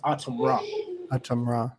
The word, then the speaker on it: Atumra: from that and um AUM Raw it's it's pronounced aam Raam ra yeah people people think I got it from